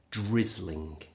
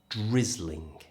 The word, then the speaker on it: drizzling: If it's slightly heavier than spitting, we'd say it's drizzling. Drizzling. Get your lips forward for that R sound. Drizzling. Remember the R sound made with the lips, not the tongue.